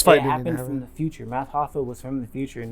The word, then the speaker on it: Math Hoffa: And Math Hoffa, that's how you say it, Math Hoffa. Yeah, that dude Hoffa is a fucking savage. Like Jimmy Hoffa.